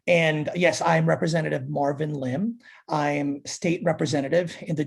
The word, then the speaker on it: Lim: Am I pronouncing the last name correctly? Is it Lim?